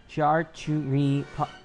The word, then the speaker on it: charcuterie: That's not how you pronounce it. Oh, okay. Sorry. Charcuterie plate with cured meats and sausage, mussel steamed